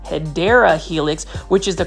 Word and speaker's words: Hedera helix: that are new to the channel I actually mispronounced hedera Helix which is the correct way to say um